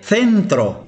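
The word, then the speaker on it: centro: كما تلاحظون قبل حرف إي ينطق ث سنترو وهو المركز.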